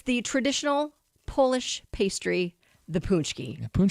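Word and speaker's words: pączki: state and it's the traditional Polish pastry, the punchki. Punchki. Oh, yeah. Love the punchki. Yeah. Who I mean, everyone loves the punchki, but apparently people don't know how to say it.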